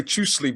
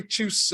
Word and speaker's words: tschüss: I was going to say tschüssli, but how do you say tschüss or goodbye in Swab?